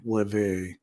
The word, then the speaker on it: Rêver: Slightly because you didn't pronounce the R of Rêver was very well said the first time after correction. Rêver.